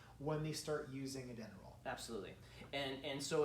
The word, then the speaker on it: Denneroll: So today we want to address the Denneroll, and which people sometimes call the dinner roll, or all kinds of different names, but it's spelled Denneroll, D-E-N-N-E-R-O-L-L.